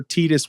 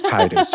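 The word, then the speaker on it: Tidus: like you're right like most of us in the US would pronounce it Titus now I could see where tetus would make sense for some of us because like again I speak two languages and I is pronounced as e right that's true yeah so I could see that but no it's it's Titus right especially when you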